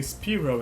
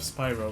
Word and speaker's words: Spyro: lot of the times i'll say spiro instead of spyro because that's how i'm used to pronounce it and if i'm not